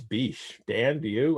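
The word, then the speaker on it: Bysshe: middle name bish um as far as i know it's beach dan do you like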